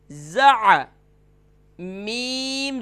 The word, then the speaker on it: زعم: ہے، تو ز زبر ز، یعنی ز زبر زا نہیں کرنا، یہ ذہن نشین کر لیجئے، ز زبر ز، عین زبر ع، زع، میم زبر م، زعم۔ نیچے دیے گئے کلمات